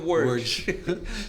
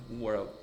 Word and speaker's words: World: pessoas diziam, eu vou para o Beto Carreiro Word. Falava, Beto Carreiro, o que é Word? E é Beto Carreiro World. World.